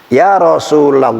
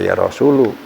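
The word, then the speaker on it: يا رسول الله: Ya Rasulullah, bacanya ya Rasulullah ya. Kalau jangan-jangan Rasul baca ya Rasulu.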